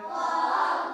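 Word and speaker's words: ق: কফ উচ্চারণ কেমন হবে কফ উচ্চারণ হবে কফ জিহব্বার গোড়া হতে মোটা ভাবে আদায় হবে কফ জিহব্বার গোড়া হতে মোটা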